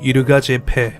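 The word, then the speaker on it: Yirgacheffe: 얘가 체프는 지형 같은데 현지 발음으로는 이르가 제패.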